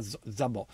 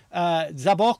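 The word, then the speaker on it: Szabó: meravigliosa chitarra acustica e anche elettrica di gavorza zobò che invece ho sempre chiamato Però in realtà sarebbe zabò perché c'è l'accento sulla o è un chitarrista veramente eccezionale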